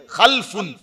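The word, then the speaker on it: خَلْفٌ: এইটাকে আরবিতে বলা হয় দুইটা শব্দ, খা লাম ফা, তো লামের মধ্যে যদি সাকিন দিয়ে পড়ে খালফুন, আর আরেকটা উচ্চারণ হলো লামের মধ্যে জবর দিয়ে খালাফুন।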